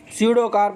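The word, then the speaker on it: pseudocarp: को क्या बोलते हैं, स्यूडोकार्प बोलते हैं। क्या बोलते हैं इसी को? स्यूडोकार्प कहते हैं। क्या कहते हैं इसी को? स्यूडोकार्प कहते हैं। और जो पी है ये क्या होता है, साइलेंट होता है।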